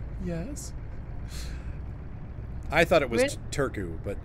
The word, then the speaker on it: Turku: not much noise yes I thought it was Turku but it's housing pronounced like Turku yeah cuz a dopant you don't see ours so it's like too cool yeah interesting well I could be wrong but